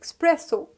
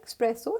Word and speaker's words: espresso: as next we have my favorite coffee it is express so because which is wrong pronunciation which is mispronunciation so correct pronunciation express so espresso and express okay expresso is a kind of coffee next we have girl's